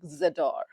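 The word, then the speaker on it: J'adore: vibe, you should definitely check out by Dior Zedor French accent. guys, I'm not French, okay? It is pronounced as z वाला, ठीक है? J लिखा है, but J is silent, and it's more pronounced like Zador, Zador, okay?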